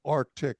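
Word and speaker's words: RTIC: This one was called Arctic. It was spelled with an R T I C.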